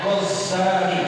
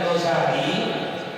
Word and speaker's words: Ghazali: Kalau yang enggak pakai tasdid, yang bacanya ringan Ghazali, itu diambil dari satu nama kampung yang ada di daerah Tusan. Nah, kalau yang pakai Ghazali, yang pakai tasdid, nisbatun, dinisbahkan dia, diambil